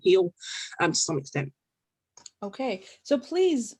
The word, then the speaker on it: Oke: our name out there okay so you still haven't told me what does okay stand for yes so okay means it can mean gift it's pronounced tonally or like basically in different contexts and different things so